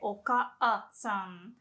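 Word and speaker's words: お母さん: The word mother, you can say okasan. So you don't have to say oka-san. Like, don't stress that single a. Just say ka without making a pause.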